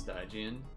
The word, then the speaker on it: Stygian: It's pronounced Stygian.